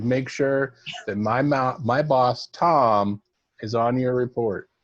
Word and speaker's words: Thom: You make sure that my boss, Tom, is on your report. Tom. And it's spelled weird. It's THOM.